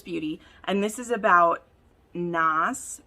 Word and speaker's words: Nas: So I read the first one, Dangerous Beauty, and this is about Nas, N-A-S is how you say that, Nas, and our